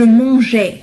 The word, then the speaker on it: mangeais: بالنسبة لهذا ال E هو فقط كي ألفظ G pardon ألفظ la lettre G je mangeais, je mangeais, tu mangeais, il mangeait. لأن G مع A تلفظ G.